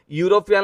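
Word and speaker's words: European: भलो भाबे लक्ष्य करंतु यूरोपियन ले ई अछि कंफ्यूज हेबेनी किंतु उच्चारण इयो रु हबो मु आपन को एबे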